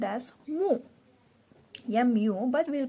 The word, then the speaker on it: mu: with this greek letter which is called as mu but we'll pronounce it as mo or someone will tell it as mu so